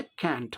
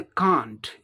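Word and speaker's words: can't: British English में इसे कांट, इसका उच्चारण क्या होता है? कांट, कांट. और अमेरिकन इंग्लिश में इसका उच्चारण क्या होता है? कैंट. ब्रिटिश में कांट, अमेरिकन में कैंट.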